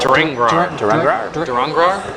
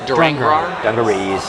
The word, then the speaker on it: Durangrar: Durangrar. Durangrar.